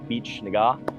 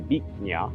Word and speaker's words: Bich Nga: I thought it was pronounced Cafe Bich Nga. It's actually pronounced Cafe Bich Nga, but I had saved